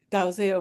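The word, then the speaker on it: Dalziel: a name that's pronounced DL but um Elsa Dil um in an interview um with Simon Hoof Um, uh, you said that the family had pronounced it Dil and was very clear about that.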